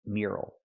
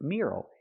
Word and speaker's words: mural: It's not pronounced mural, it's pronounced mural, mural. Use that e sound like yes and yesterday, me. Mure, plus the er sound like burger, mure. Not mural, but mure, mural. Plus the short sound al like in table and bottle.